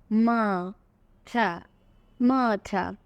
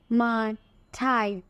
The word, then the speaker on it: martyr: MAR মা, এইটুকু বুঝতে পারছি, কিন্তু TYR এখানে কিন্তু আর ঠাই উচ্চারণটা হয় না। দেখো, আ আ মা ঠা মাঠা। তাহলে ট্রাই, স্কাই, মাই এরকমভাবে যদি চিন্তা করো, এখানে হয় মা ঠাই, রাইট?